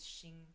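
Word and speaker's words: 星: At least for Mandarin, I've only ever heard stars pronounced as Xing.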